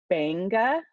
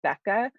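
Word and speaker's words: Beqa: in the corner so in Fijian cues so Banga be EQA cues are pronounced and geez so Banga and not beca i don't want you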